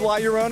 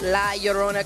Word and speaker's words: La Llorona: I think it's awesome that, you know, for people who grew up with La Llorona, I think it's, you know, what I love hearing is they say finally somebody has made a La Llorona story.